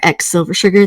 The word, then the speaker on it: X Silver Sugar: You can find me most places on the internet as Silver Sugar or X Silver Sugar. The X is silent.